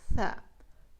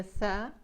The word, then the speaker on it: ث: That's the letter Tha. To pronounce the letter Tha, you need to remove the tip of your tongue.